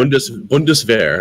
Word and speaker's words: Bundeswehr: Bundeswehr.